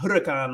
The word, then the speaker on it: huracán: Antes yo sabía que no pronuncias la H. So before I learned that you don't pronounce the H. Yeah, so it's not huracán. It's not huracán like English, like hurricane, but it's huracán.